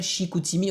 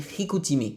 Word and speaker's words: Chicoutimi: On dit pas Chicoutimi, on dit Chicoutimi.